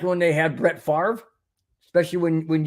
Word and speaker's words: Favre: Favre especially when when you can't even pronounce your name the way it spelled f a v is favoring not Favre say it correctly Brett my gosh anybody can't pronounce their last name correctly it's got issues uh it's Brett favory and anyways uh and